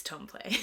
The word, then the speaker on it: Templet: At 3:15 a.m., emergency services received a harrowing phone call from 17-year-old Anthony Templet, or Templet. I wrote it phonetically here. It's Templet.